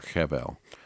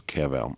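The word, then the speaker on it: חבל: The word for cord in Hebrew is kevel or chevel. I don't know. I don't pronounce Hebrew, but it's kevel. It's spelled like chevel, Chevel.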